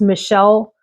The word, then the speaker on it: Michel: This is called Snowy Night, and I think it's pronounced Michelle, or I can't imagine it's Michael, but it's like a French Michelle.